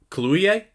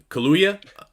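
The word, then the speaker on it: Kaluuya: just actor it was just uh daniel uh columbia i'm sorry i know i butchered it yeah kaluya sure tell me i'm drunk hey did it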